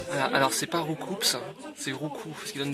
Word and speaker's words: Roucoups: Roucoups. Roucoups. Mais Roucoups. Roucoups. Roucoups. Roucoups. Putain! Roucou! C'est pas compliqué! Un oiseau qui roucoule et qui donne des coups! Vous avez toujours prononcé coups pour désigner des coups, vous?